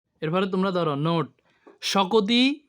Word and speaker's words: শকতি: এরপরে তোমরা ধরো নোট, শকতি পড়তে হবে শকতি, কি হতে হবে? আমরা যদি শক্তি হরি কি হরি? শক্তি পড়তে হবে শকতি, কি হতে হবে?